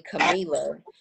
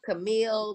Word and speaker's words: Camila: Like I have my issues with my name, which is actually Camila. A lot of people mispronounce my name. Mm-hmm. So I was like, yeah, I'm telling you my name is Camila. And you still saying Camila, Camila, Camila, Camille. Like that is not what I said.